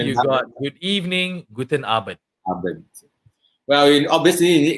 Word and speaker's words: Abend: So how do you say good evening? You say Guten Abend. Guten Abend. Abend. A-B-E-N-D.